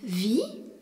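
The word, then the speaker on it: wie: Le mot interrogatif vi W i E signifie comment. Le e qui suit le i prolonge la prononciation du i.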